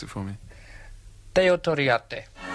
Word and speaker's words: Teo Torriatte: Now, Freddie, you pronounce it for me. Teo Toriate. Teo Toriati.